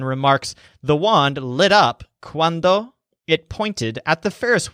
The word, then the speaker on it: cuando: word quando so it's quando the wand rides up this word has the stress on wand quando and it means when